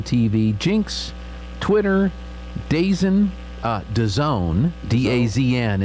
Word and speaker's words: DAZN: Jinx, Twitter, DAZN, DAZN, D-A-Z-N is pronounced DAZN, Twitch, Motor Trend Plus.